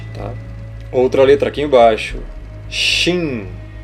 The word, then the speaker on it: Shin: Outra letra aqui embaixo, Shin. No paleohebraico é Shá, a pronúncia. Ela vai ter som de SH.